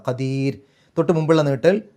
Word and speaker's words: قدير: ഷെയ്ഇൻ ഖദീർ അവസാനത്തെ റാഇന് സുക്കൂനിട്ടിട്ട് നിർത്തുക. അപ്പോൾ അവിടെ രി എന്നുള്ള ഉച്ചാരണം കൊടുക്കുക. ഖദീർ.